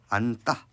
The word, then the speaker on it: 안다: 우리 안다, 그다음에 심다 이런 거 같은 경우는 발음이 어떻게 됩니까? 안따, 심따 이렇게 되는 경우들을 확인할 수 있고요.